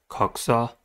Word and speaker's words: coxa: The leg of an insect consists of several segments, namely coxa, canter, femur, tibia, arses, and claw. The first word is coxa. Coxa has two syllables and the stress is at the first one.